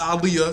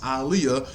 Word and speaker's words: Aaliyah: her name is pronounced aliyah to everybody saying you pronounce her name wrong no her name is pronounced aaliyah people like to ignore